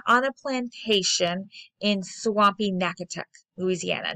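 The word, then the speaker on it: Natchitoches: plantation in nacotec louisiana yeah it looks like magic toe chase but it's actually pronounced nakatuk um only three years later however kate's husband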